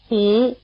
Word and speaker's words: Hú: Hú, Hú, Hú Notice that the sound "u" is spelled with a U. Though not quite the same, it's like the English vowel U in Honalulu.